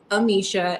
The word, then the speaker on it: Amicia: My Instagram account is Amisha, Amicia TV.